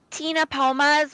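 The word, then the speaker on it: Ctenopoma: called again they're called tina pomas with a c so the c is silent so it's c t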